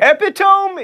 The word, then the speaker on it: epitome: don't it's not AI for instance it's arai epitome is the epitome of mispronunciation you don't go to Edinburg you go